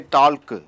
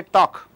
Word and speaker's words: talk: Say for example you don't say talk. You say talk.